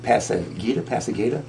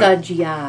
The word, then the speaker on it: Passeggiata: Is it Pasagita? We're doing Passeggiata.